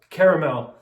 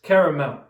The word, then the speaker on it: caramel: base we have vanilla caramel yes it is pronounced caramel there's an a after the r so it's caramel if you don't pronounce